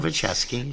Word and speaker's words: Nowaczewski: Did I say it right? That I always comes- said it wrong. Nowaczewski, sure. Okay.